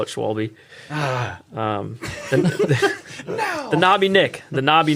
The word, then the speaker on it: Schwalbe: The SCHW that makes like a V sound. Schwable.